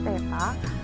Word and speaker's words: theta: Kalau ini dibacanya theta.